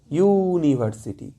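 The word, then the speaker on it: university: আমরা ইউ বলে দিচ্ছি ইউ এর মতন করেই বলছি ইউনিভার্সিটি কিন্তু দেখো ইউ ফর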